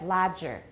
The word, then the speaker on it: larger: pronunciation workshops this year I said larger and most people checked larger so you need to watch the r if you're speaking American larger good go on table